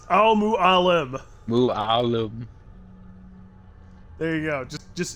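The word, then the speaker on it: Al Mualim: you cannot his name it's Al mu Al mu Alum there you go just just if you have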